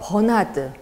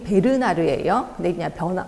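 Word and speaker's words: Bernard: 학자들 쭉 있는데이 중에서 버나드 정확히 발음이 베르나르에요 변화드라고도 나오더라고요 b라는 거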